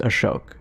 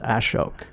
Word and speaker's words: Ashok: like spelling out like my dad's name it's pronounced ashok but it's a-s-h so it's ashok right in english it's like right right but